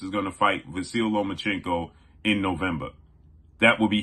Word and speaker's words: Lomachenko: Nomachenko. They don't even know how to pronounce Vasyl Lomachenko's name.